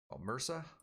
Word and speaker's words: MRSA: one of them ended up with a bacteria mersa that's how you spell it methicillin-resistant MRSA that's it I had to